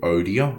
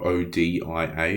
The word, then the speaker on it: Odia: It's called Odia, O-D-I-A, it's spelled.